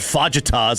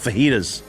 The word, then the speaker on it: fajitas: You know, I don't call it fajitas. I call it fajitas.